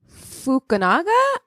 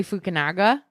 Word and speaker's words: Fukunaga: Cary Fukunaga. How do you say his name? Fukunaga is what it looks like. Fukunaga.